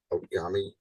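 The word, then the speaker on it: Outagamie: Dane County, Brown County, Outgami, that's how you say it.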